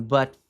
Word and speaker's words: but: O tezinho desse but não se pronuncia numa linguagem, numa numa leitura corrente, numa pronúncia corrente mais rápida e natural.